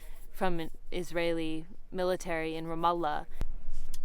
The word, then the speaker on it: Ramallah: I saw a 13-year-old Palestinian boy shot in the head by a rubber bullet from an Israeli military in Ramallah. Just pronounce it Ramla.